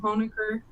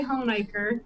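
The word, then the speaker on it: Honaker: And then I'm from Hornacre which is in Russell County and that's another one that people pronounce wrong all the time. They usually say Hiker but we say Hornacre.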